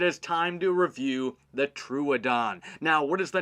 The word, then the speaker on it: Troodon: this dinosaur's name is truadan uh kind of like true or false so just say true odon truedon and its name means